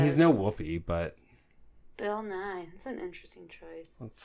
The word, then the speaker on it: Nighy: Oh, and by the way, how do you say Bill Nighy? Nighy? Nighy? Just Nye. Like the science guy. Oh, Bill Nye? Yeah. That's how you say his name, really? The British one? Yeah. Yeah, it's Bill Nye.